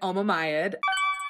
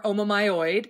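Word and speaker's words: omomyid: please uh i pronounce i pronounce it alma mayad um or omamyoid if you talk to some folks in certain parts of the field but omamyds are a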